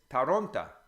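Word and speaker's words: Торонто: deceptive like the ol if it's not stressed in a word becomes ah so Toronto is taranta you know because it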